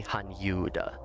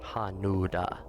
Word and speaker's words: Hanyuda: tales it's also hanuda really hanyuda not hanuda it says hanuda there but it really should be romanized as Han Yuda I'm pretty sure that's how it's pronounced right in Japanese it's hanuda isn't it